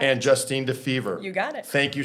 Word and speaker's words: Defever: Sorry if I pronounced your last names wrong. Kelly, Genei. Correct. And Justine Defever.